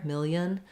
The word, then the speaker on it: million: syllables million um but you do need the L um otherwise it sound like million million yeah the L missing would would not sound correct um uh great question